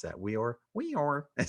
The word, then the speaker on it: Weor: How do you pronounce that? Weor?